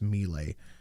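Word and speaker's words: Milei: him look really bad melee it's pronounced melee I don't care anything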